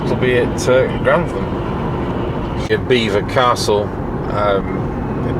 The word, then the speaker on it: Belvoir: Beaver Castle. Um Beaver is spelled Belvoir. That's how you think it was going to be pronounced, but it's actually pronounced Beaver.